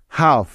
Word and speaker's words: half: Next F এর আগে এল সাইলেন্টের উদাহরণ। যেমন হাফ, HALF, হাফ।